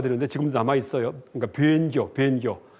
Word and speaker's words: 본교: 그러니까 변교. 보통 책에서 본교라고 하는데 발음은 변 읽는 게 옳습니다.